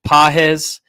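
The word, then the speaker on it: Pages: ground uh rookie Andy pahz uh you like how I pronounced it similar I think I got it right now you nailed it but his defense sucks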